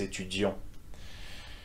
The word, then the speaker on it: étudions: The on sound at the end. Nous étudions.